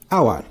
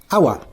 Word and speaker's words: hour: An aunt, an enemy, an ice cream, an orange, an umbrella, and hour. Notice the word hour. H is silent here.